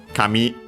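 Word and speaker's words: 紙: Well, Kami in this case actually should be, because accented on the last syllable, it means paper.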